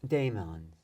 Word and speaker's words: daemon: Daemons. Which Daemon, D-A-E-M. but that's a ligature. It's a classical ligature, which is E in our pronunciation.